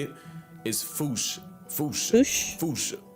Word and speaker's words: fossa: Experts feel free to correct me, but apparently that is the closest to the OG Malagasy pronunciation. It's just that the global game of telephone has Americans saying Fossa, while England pronounces it as Fossa.